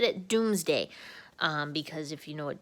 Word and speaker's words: Domesday: So I know it says Domesday Book on the slide, and that's how they spell it, but they actually say it Doomsday.